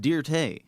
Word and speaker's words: Dirt: dirt oh no uh it's actually pronounced dear tay yeah dear today so i got that